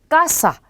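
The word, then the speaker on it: casa: 그러면 이 단어를 읽으실 때 까사 이렇게 하지 않고 까사 이렇게 요 부분을 약간 높여서 강하게 읽어야 하는 게 정확한 발음이 되는 거죠.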